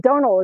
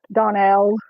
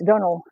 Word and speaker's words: Donal: buddy I's see yeah Donal is how you say it because I knew a Donal some people probably say Donell no it's Donal Donal I remember the first